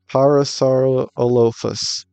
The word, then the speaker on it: Parasaurolophus: Parasaurolophus. Oh, that's how you pronounce it.